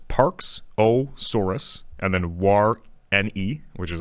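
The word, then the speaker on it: warreni: actually it is a dinosaur and parksosaurus waren pronounced parksosaurus and then War NE e which is like Warren wary was a small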